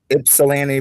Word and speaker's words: Ypsilanti: And how do you pronounce Ypsilanti, Michigan there? Yeah, it's one of those words. It's Ypsilanti, but it's Yps.